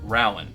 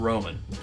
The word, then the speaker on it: Rowan: Speaking of that, it is pronounced, if you're in Kentucky, Rowan, not Roman.